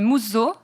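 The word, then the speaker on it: musō: trois royaumes sans égale genre mousseau prononcé mousseau ya un z et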